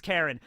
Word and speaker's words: Charon: Charon. I think it's Charon. I think it's like Charon. It's like a way to pronounce it. Karen. It's Karen.